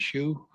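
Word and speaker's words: Schuh: You want to start with Paula Shu? Yes, can we, Paula, are you online? Avery, and Shu is spelled S-C-H-U-H. Ms. Shu, can you hear me?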